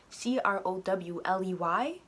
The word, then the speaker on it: Crowley: I searched his name because they say Crowley with K-R-O-R-Y. That's how it's spelled in the show at least. His last name is literally Crowley. C-R-O-W-L-E-Y. Crowley. Alistair Crowley. I'm like, wow. Because like, these names aren't Japanese, but they pronounce it that way. So I'm just like, wow, it's Crowley. Crowley.